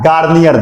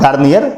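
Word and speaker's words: Garnier: सबसे पहले ऑब्जर्व किया गार्नियर ने। हाँ, गार्नियर, वही जिसका फेस वॉश आता है, वही सेम टू सेम स्पेलिंग भी वही है, लेकिन ये फेस वॉश नहीं है, ये साइंटिस्ट का नाम।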